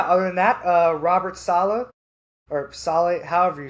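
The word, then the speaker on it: Saleh: But yeah, other than that, uh, Robert Salah or Sal, however you say his name, Salah, Salah, I'm tripping right now.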